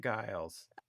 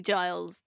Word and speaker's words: Giles: But I always say it guiles. Oh my god. Oh my god. It's definitely Giles.